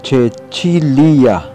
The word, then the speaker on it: Cecilia: C. Kapag ang kusunod dito ay E, Ae, Oe, I, Y, ito ay binibigkas tulad ng CH sa salitang church. Halimbawa nito ay kaelum. Ito ay magiging chelum. Kaelis. Ito naman ay chelis. Cecilia. Ito naman ay magiging Cecilia. Sisi.